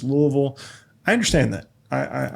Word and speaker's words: Louisville: Being from Louisville, not Louisville, not Lewisville, it's Louisville.